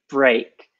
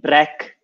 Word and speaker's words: break: Careful with the pronunciation of break. A lot of students say break, or they shorten it. It's a longer E. So break, not E, sorry, A.